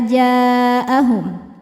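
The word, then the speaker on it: جاءهم: Mad thobiinya alif didahului fathah. Hamzahnya a ada pada kata jaahum. Maka jimnya panjang boleh empat boleh lima harakat. Jaahum.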